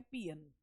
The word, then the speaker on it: paean: तो पियन जो होते हैं वो ग्रीक सॉन्ग्स ऑफ जॉय और विक्ट्री जो है उन्हें कहा जाता है, और इसका प्रोनाउंसिएशन होता है पियन।